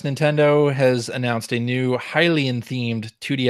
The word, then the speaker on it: Hylian: the only one who sees that word and says he'll e'en instead of Hylian I think so and